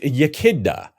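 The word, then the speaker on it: Iechyd da: can all fold into your vocabulary and it's pronounced yaka which roughly translates to Cheers so yaka thanks Carl since 1850 well over half of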